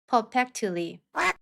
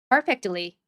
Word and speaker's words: perfectly: 우선 앞쪽 C K 발음은 힘을 빼시고요. 뒤에 붙은 T를 댄 소리로 발음하면서 뒤를 부드럽게 끌어 주시면서 발음하시면 됩니다. 연습해 보겠습니다. Exactly. Exactly. perfectly perfectly strictly strctly directly directly correctly correctly 예문 한번 읽어 볼게요.